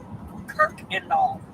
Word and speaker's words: Kuykendall: Pronunciation. Danielle. You close? You're relatively close. Okay. Kirkendall.